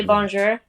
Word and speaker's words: bonjour: Bonjour. Only very slowly. Drop the R off a little more, but you're close.